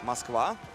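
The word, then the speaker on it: Москва: In Russia it is pronounced like Moskva.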